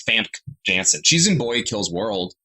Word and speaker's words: Famke Janssen: Famke Janssen? Yeah. Nope, that's not how you pronounce that name. It's Famke Janssen.